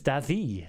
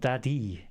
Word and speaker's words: Dadi: So it's Dadi, not Dadi. It's a little soft.